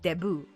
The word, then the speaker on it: debut: called a debut or it's spelled like debut but with the Filipino accent it's Debo but um so a